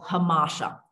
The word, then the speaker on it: hamartia: hero or a villain is the idea of hamasha, and that's spelled Hamartia.